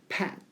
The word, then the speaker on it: pat: 그런 것처럼 pat 발음이 어떻게? pat 이렇게 되면 이렇게 등을 탁탁탁 두들기다 다독이다 이런 뜻이 되고 여기 나와 있는 pet은 여러분이 알고 있는 그 애완동물 있죠? pet이라고 하는데 애 발음이니까 이거는 pat 이거는 pet 이렇게 찢고 안 찢고 차이가 있습니다.